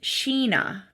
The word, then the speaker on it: China: meet her new friend spelled China but pronounced Sheena yeah this is um